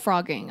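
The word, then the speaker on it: phrogging: It is called frogging. Okay. Is a person secretly living in another person's home. The word is pronounced frogging, but it's not spelled like that.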